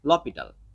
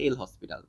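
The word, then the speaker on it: L'Hôpital: যে জিনিসটা সেটা হচ্ছে লপিটাল ঠিক আছে আর তোমার একদম প্রোনাউন্সিয়েশন যদি তুমি এরকম অক্ষর ধরে ধরে করো সেক্ষেত্রে আসে এল হসপিটাল সো একেকজন একেক রকম বলে হোয়াট এভার এখন কথা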